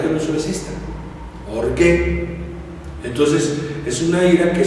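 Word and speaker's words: ὀργή: La otra es ¿por qué? O-R-G-U-E, acento en la E.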